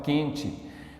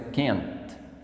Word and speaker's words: can't: Cuidado com o T, porque o T é mudo, senão você vai falar quente, mas é can't.